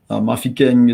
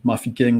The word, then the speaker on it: Mafikeng: Mafikeng is typically associated with pronunciation that my tribe would use. So Mafikeng would be pronounced by the Bafokeng.